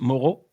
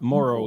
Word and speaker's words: Moreau: Well, in French, it's pronounced Moreau, but Moro is fine in English.